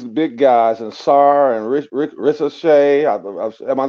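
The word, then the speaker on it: Risacher: For me, I heard you guys talk about Clingan and these big guys and Sarr and Ricochet. Am I saying it right? Yeah. Ricochet.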